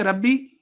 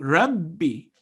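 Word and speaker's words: رَبِّي: In Arabic writing system, a letter with shadda sign means this letter is written twice.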